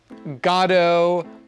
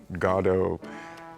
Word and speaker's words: Godot: of it, you know, Godo is in the text and has been played that way.